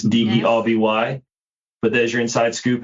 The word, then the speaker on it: Derby: It is pronounced Derby. Americans might say Derby cuz it's d e r b y.